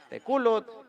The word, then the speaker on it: Tekulutl: Teculut, teculut, bebé, teculut, teculut, teculut.